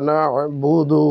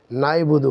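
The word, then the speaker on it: نَعْبُدُ: তাহলে সব মিলিয়ে হলো ইয়াকা না'বুদু ওয়া ইয়াকা নাস্তাঈন।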